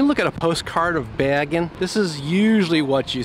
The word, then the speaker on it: Bergen: So, and it's going until, well, it'll be closed by the time you get here, but it's Bergenfest, but it's Bergen. Bergen is the correct pronunciation.